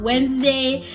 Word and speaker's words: Wednesday: when you're spelling out Wednesday and I do this all the time and it kind of confuses me why it's called why the D is silent why why it just